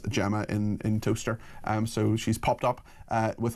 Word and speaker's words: Towcester: Pronounce toaster, as in you put the bread in and the bread comes up on it. It's pronounced toaster.